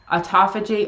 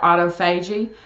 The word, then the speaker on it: autophagy: chance to enter into you'll hear this pronounce a couple different ways at avijit or autophagy online people say it differently what that basically is